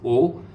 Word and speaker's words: aux: so now the next one aux aux it's o okay aux iux it's all